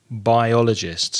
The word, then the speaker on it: biologists: in the same place the same syllable is biologists biologists so again four syllables stress the second syllable biologists and also this